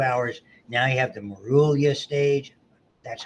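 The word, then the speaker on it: morula: And so by the time it gets to the uterus, 72 hours, now you have the Marulia stage. That's how you pronounce it.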